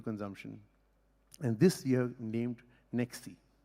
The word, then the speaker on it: NextC: And this year named NextC. C stands for cloud or next? C stands for comprehensive. Comprehensive. Yeah. And incidentally, it rhymes with sexy.